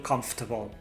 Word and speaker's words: comfortable: the players to feel comfortable. Fijaos cómo pronuncio la palabra comfortable. No existe la R. Comfortable. Es como pronunciar 3 sílabas. Comfortable, a pesar de que son 4.